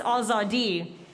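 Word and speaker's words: آزادی: back of my neck in Farsi, which is pronounced Azadi.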